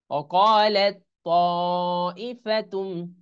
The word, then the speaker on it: قالت طائفة: বরং পড়তে হবে কি অকালাত তাইফাতুম, قالت طائفة। এই ত উচ্চারণ হবে, তা উচ্চারণ আসবে না।